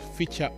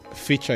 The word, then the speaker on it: Ficha: are not necessarily Kenyans feature is spelled in the way that it sounds fi c-h-a Uchi is Uchi hashtag